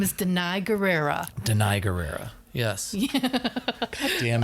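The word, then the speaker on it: Danai Gurira: Denai Guerrera?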